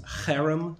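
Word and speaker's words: חרם: This cherem warfare, C-H-E-R-E-M is how you'd spell it in English.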